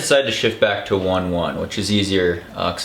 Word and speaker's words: One One: think in my previous video I had said on on is it was usually pronounced with the accent uh in the second part but the brand has decided to shift back to one one which is easier uh cuz that's the way